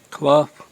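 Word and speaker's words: Clough: town of claw cuz this is U I'm pronouncing that right c l o u g h cloth yeah cloth Road huh matter of fact if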